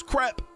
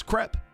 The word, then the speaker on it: crepe: Joe, that's incorrect. It's crepe. I've had it verified by at least three French people.